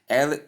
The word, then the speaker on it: leopard: How can you say that this word is leopard when it is spelled as Leopard? And we should call it leopard. That is the right way it should be pronounced.